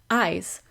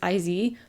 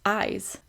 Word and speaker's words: IZ: And that's Eyes, which I didn't realize was how you pronounce it. I thought it was IZ, but no, it's Eyes.